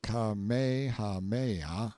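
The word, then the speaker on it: Kamehameha: When Kamehahha, pronounced Kamehaha the Great, who was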